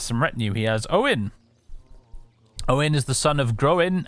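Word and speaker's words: Óin: retinue he has owen owen is the son of growing and glowing's brother see that's why i'm pretty sure it's pronounced that way because otherwise it would be oint son of groin which would just be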